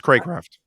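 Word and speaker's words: Cracraft: how to pronounce this if it's craw craft or crate craft um it's craycraft crankcraft okay that's what i thought but i i think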